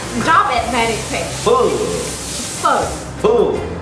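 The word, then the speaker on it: phở: Pho. Pho. No, pho. It's like a question mark. Question mark on top of the O. Pho. Pho. Like, you bend your voice and you drop it very quick. Pho.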